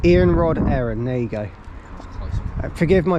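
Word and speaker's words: Iarnród Éireann: you think, but obviously the company is called Iarnrod Eireann. Iarnrod Eireann, isn't it? How do you say it? Iarnrod Eireann. Iarnrod Eireann, there you go. Forgive my pronunciations, guys, as you know, I'm not from here, so.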